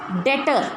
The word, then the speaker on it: debtor: Next डेटर, डेटर DEBTOR, B silent होता है इसमें, we will call it डेटर्स।